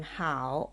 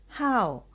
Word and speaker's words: 好: it is let's see this character can be pronounced as the third tone how or the fourth tone how how or how let